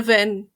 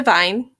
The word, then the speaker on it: Weyn: it danish susanna vine susanna vin susan bean okay so i'm gonna be pronouncing it wayne because that's what the website told me continuing sorry that this